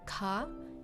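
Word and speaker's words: 火: So this one has the fire kanji, but it's pronounced as ka, and it means Tuesday.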